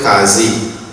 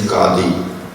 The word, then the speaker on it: Qadi: Our panchayat will be headed by in Trinidad they call it Qazi. The correct pronunciation is Qadi.